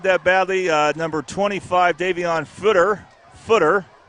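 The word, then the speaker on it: Futter: Number 25, Davion Footer. It's spelled F-U-T-T-R, but you pronounce it like it's F-O-O-T-R, like a footer in when Microsoft Word or something like that.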